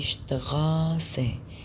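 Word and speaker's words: Straße: الاس تي في الأول الكلام بتنطق اشت اشت اشت، والاس بي بتنطق اشب اشب اشب. الاس بي بتنطق اشب اشب، والاس تي بتنطق اشتي اشتي. فهنا دي شتغاسة شتغاسة شتغاسة.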